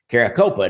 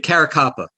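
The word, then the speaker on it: Caracappa: louis eppolito and steve caracopa did i get those pronounced right uh it caracapa you're a copper and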